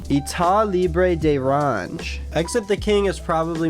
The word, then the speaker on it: État Libre d'Orange: This month I received Versace Eros, Exit the King by how do I pronounce that? It sounds so fancy. État Libre d'Orange. État Libre d'Orange.